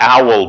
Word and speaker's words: OWL: why it's it's looks like w but it's pronounced owl so it's called the web ontology language owl